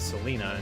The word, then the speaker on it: Selena: I mean, we have Selena and her uh the emphasis on her name is on the Lee part obviously, but for the main